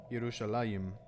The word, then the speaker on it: Yerushalayim: Yerushalayim. Yep. Accent on the last syllable.